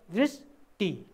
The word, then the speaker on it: दृष्टि: त्यस्तै छ दृष्टि, लेख्य भाषामा शुद्ध वर्णविन्यासको आधारमा दृष्टि यसरी पेट तिरेको छ लेखिन्छ भने उच्चारण गर्दा दृष्टि दृष्टि यो इकारले घेरेर लेखिन्छ, आदि छ आदि अक्षर, तर उच्चारण गर्दा त्यो इकारभन्दा अगाडि उच्चारण हुन्छ दृष्टि दृष्टि, त्यो ख्याल गर्नुपर्ने हुन्छ विद्यार्थी भाइ बहिनीहरू।